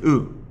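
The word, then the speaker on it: う: The third sound is U. This is pronounced like U in ooh, ah, U.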